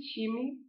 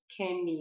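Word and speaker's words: Chemie: شیمی، شیمی دقیقا مثل فارسی تلفظ میکنن شیمی رو، نمیگن کمی، نمیگن شمی.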